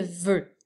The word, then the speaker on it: veut: Alors, ça s'écrit V-E-U, mais à la fin, c'est un T muet.